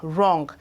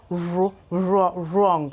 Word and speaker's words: wrong: This law says that when the W and the R begins a word, that the W is usually silent.